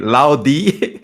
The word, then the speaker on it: LOUD: guy just saying loudy it's not loud it's loudy in Brazil so the the team the Brazilian team is it's l o u d and so we say loud and everyone's like emphasizing the D loud loud I'm like